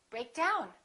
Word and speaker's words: break down: I broke the pencil which phrasal verbs we stress the second element which is usually a preposition so we say pick up break down we say break down emphasizing the second element